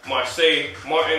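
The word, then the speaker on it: Marsai Martin: And it had Marseille Martin, that's how you say her name.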